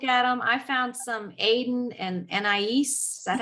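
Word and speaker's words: aden + anais: i always look at them i found some aiden and niece that's how you say it um but the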